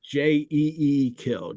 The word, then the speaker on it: Jekyll: I think it was it's Dr J like J kill J um that's the way the name is pronounced there and that's the way it was pronounced you know always there and still is there I think right I I think Jackal has kind of taken over here as well because people